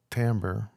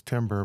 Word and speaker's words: timbre: Timbre um Timber um you could pronounce this Timber but then maybe someone would think a tree is going to follow on you or something so probably best to use Timbre um so what it